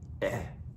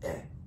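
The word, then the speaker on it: é: Eh, like you're trying to hack something up. Eh.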